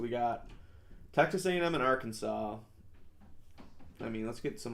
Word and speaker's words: Arkansas: I like to say Arkansas just to fuck with the team, but Arkansas is how you say it, obviously.